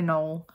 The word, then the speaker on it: Knoll: Or Pine Knox. I've heard it pronounced as both, but like Rebecca was getting on me. So we're gonna say Knoll.